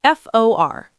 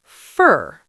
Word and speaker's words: for: Let's look at for, F-O-R. Usually pronounced for. In a sentence, fur. I bought it for my mom.